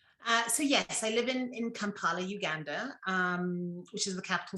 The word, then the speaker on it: Kampala: So you said Kampala. That's how you pronounce the capital city, right?